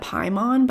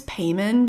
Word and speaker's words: Paimon: Which, by the way, I always pronounce that Paimon, but I guess it's Payman because I rewatched the movie and I was like, oh my god, I think I've been saying it wrong.